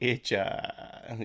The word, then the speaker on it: Hitcher: The Itcha. Yeah, that's funny. The Itcha. Parents. You weirdly don't pronounce it with a H.